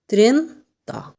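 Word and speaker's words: trenta: ত্রেন্তা। এখানেও ঠিক আমরা আগের মতো ভাবে ত্রেন্তার সাথে 1-2 করে যোগ করে নিজেরাই পারবো আমরা ঠিকমতো তৈরি করতে।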